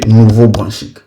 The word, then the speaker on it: Nouveau-Brunswick: Alors, il y a des gens qui me disent dans les commentaires, tu ne prononces pas bien Nouveau-Brunswick. C'est comme si c'était mon pays. Quand il s'agit de mon pays, je prononce ça bien.